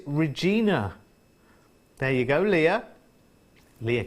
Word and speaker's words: Regina: It said, look, no, I rhyme with Queener, so long E. So it is Regina.